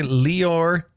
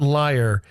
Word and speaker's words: Lior: This guy Leor not liar. People mispronounce his name. And we were we were instructed that that is not how you pronounce it. It's like Dior with an L.